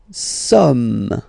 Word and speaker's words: sommes: Nous sommes. Okay, nous sommes. Okay, so you don't pronounce the final S here, it doesn't exist.